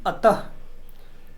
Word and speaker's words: अतः: यह जो विसर्ग है इसका उच्चारण हम हक के रूप में करते हैं है उसी प्रकार बच्चों